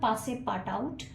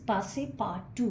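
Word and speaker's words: Passepartout: The pronunciation is पासे पा टू, इट्स नॉट पासे पार्ट आउट बट इट इज़ पासे पार्ट टू।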